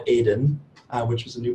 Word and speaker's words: Eden: creation, which he called Aden, which was a new pronunciation for me, maybe. It's actually in Hebrew, you just say Eden.